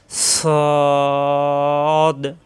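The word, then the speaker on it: ص: হয় মাখরাজটা আগে শিখি সদ যখন আমরা শুধু সদ উচ্চারণ করব তখন জিহ্বা নিচের দাঁতে লাগবে ওখান থেকে আবার এসে উপরের দুই দাঁতের গোড়ায় লাগবে সদ সিন উচ্চারণ জিহ্বা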